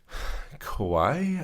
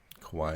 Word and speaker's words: Kauai: It's an 11-mile trail that's on the coast of the Nepali coast on the island of Kauai, I think is how it's pronounced.